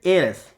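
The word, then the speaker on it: heiress: ऐसे शब्दों में जो एच जो होता है वो साइलेंट रहता है, ठीक है। सी इज़ एन एयरस, ठीक है, हेयरस नहीं एयरस, तो एयरस है तो ए का साउंड आ रहा है, वोवल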